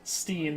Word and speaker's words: Stein: what's that that's how you pronounce it in the original german what is spine stein